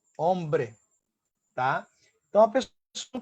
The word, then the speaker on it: hombre: Consoante, som, porque o H não tem som. tá? Então, como é que vai ficar a pronúncia? Vamos ter, ó, desta forma aqui. Eles, el hombre.